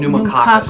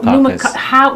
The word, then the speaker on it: Pneumococcus: Pneumococcus. Pneumococcus.